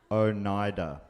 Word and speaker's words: Oneida: I did write it phonetically at the top, 1 second. Oneida.